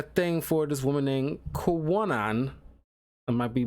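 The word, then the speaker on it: Kwannon: for this woman named Kwanon. I might be mispronouncing that name. It was Kwanon. Kwanon. Let's go with Kwanon. Kind of like canon, but Kwa.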